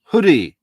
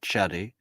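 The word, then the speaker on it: Chudy: Evelina Hoodie, apparently, not Chuddy. See, we're learning all sorts about Polish pronunciation tonight, folks.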